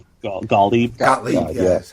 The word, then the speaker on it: Gottlieb: Carl Gottlieb. Gottlieb. Gottlieb. Yeah, that's how you pronounce it.